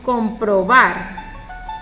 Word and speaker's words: comprobar: Tenemos comprobar. ¿Sí ven? La mayor fuerza de voz está en bar. Comprobar. Porque yo no digo comprobar o comprobar. No, comprobar, ¿no?